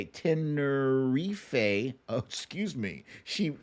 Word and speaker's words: Tenerife: Wendy from Tenerife. Tenerife. Oh, excuse me. She spelled it out phonetically.